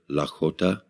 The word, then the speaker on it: Lakota: and non-native cultures and this is the correct pronunciation of the word Lakota and it basically means an alliance of friends